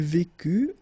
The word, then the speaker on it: vécut: Il vécut, elle vécut, final T not pronounced.